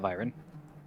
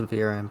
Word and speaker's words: Viren: Not Byron. It's supposed to be pronounced Viren, but like Viren.